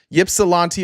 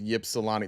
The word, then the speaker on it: Ypsilanti: So it's, the Y is silent. So what about the P? So it's Ypsilanti, or is the P also silent? Ips. Okay, it is Ips.